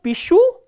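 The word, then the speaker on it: пишу: So, here the stress is on the ending. The ending is stressed and the stem ends with a consonant sh. So, pishu and pishut.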